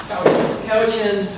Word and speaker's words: Cowichan: I always pronounce this wrong. Is it Cowichan? Cowichan.